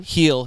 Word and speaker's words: Gil: Heel. Yeah. Heel? Yeah, it's not Gil.